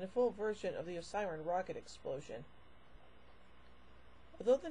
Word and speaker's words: Osiran: Part 2, and a full version of the Osiran rocket explosion. Although the name of Sutekh's race is pronounced Osiran throughout the serial, the scripts and